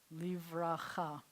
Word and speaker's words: livracha: And then we have livracha, livracha. So this word, baracha means blessing.